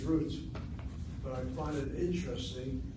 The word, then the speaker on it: Ruth: If the last letter of the Hebrew alphabet does not have a digation in they pronounce it as an S sound. Roose roose. So I know I know of no Ashkanazi congregation pronounces the matriarch in the line as roose. Everybody says root.